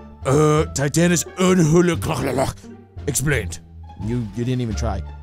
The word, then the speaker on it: Amhuluk: Oh, yeah, Amhuluk. That's how you pronounce it.